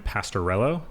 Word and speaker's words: Pastorello: joining us at some point here is sam pastorello yes all right cool i'm glad that i pronounced it right um before we really dive